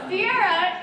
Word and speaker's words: Ciara: Yeah, so Ciara is the most common pronunciation of my name.